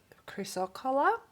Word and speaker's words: chrysocolla: I believe it's pronounced chrysocolla.